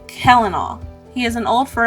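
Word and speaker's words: Celanawe: Based on the spelling, it looks like Selanoe, but is in fact pronounced Kellenal.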